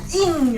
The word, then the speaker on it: INGNI: Un grand sac Ing. Ing. Parce que c'est écrit Ingni ou Ini, mais ça se prononce Ing.